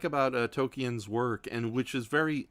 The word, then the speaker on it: Tolkien: I love about Tolkien's, I keep saying his name wrong. Tolkien.